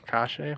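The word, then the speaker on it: Kase: Kashe.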